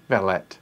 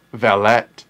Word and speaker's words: valet: look at the market valet oh british pronounce it not valid but valet okay fair enough it's not valet i know that that's how we americans pronounce it but um all